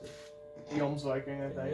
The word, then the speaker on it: Jomsviking: Jomsviking, I think. Jomsviking. Because I know in Norse, J's or Y's. J's are like Y sounding. Yeah, it's Jomsviking.